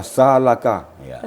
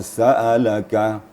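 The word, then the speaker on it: سألك: Jangan sampai dibaca salaka. Makanya hati-hati ya. Jadi alif kalau sudah pakai baris, berarti dia sudah jadi hamzah. Di wa idza sa'alaka ibadi.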